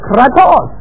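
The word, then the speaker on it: κράτος: Say it probably, kratos. Say it like the Greeks do, kratos.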